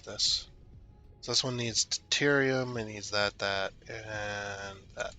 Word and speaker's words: deuterium: That's deuterium. I believe it's pronounced deuterium.